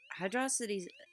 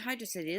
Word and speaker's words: Hydrocity: So, Hydrocity's, or is it Hydro City? There always seems to be a conflicting way to pronounce this zone's name. I've always called it Hydro City. You know what, I'm just gonna save myself the headache and call it Hydro City from now on.